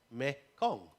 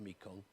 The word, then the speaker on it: Mekong: There is, most obviously, the main river running through Southeast Asia is called Marganga, or as it's pronounced in Khmer, Mekong.